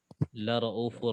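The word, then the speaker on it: لَرَؤُفٌ: Untuk syubah, waw maddiyahnya dihapus. La raufur rahim. Nah, untuk hafaznya tetap dibaca ya, Ustaz ya? Iya. Ya. Innallaha bin-nasi la'ufur rahim. La raufur rahim. Tanpa ada waw mad.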